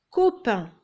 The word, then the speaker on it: copain: Copain. Il y a un O après le C et ça se prononce co.